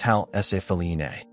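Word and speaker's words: Ħal Saflieni: This is the Halsaflini Hypogeum, pronounced Halsafline, a prehistoric complex cut entirely underground.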